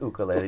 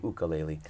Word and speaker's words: ukulele: him no no so so a few years ago I started saying ukulele because once I learned that over in Hawaii the instrument originates they say ukulele so I've made the